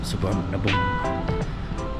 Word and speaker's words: Suvarnabhumi: Thailand sa ano kami suar na boom y daw yung pronunciation ng suar na boom airport and from there